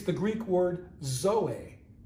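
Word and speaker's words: ζωή: you might have life it's the greek word zoe it's spelled z o e zoe zoe jesus i'm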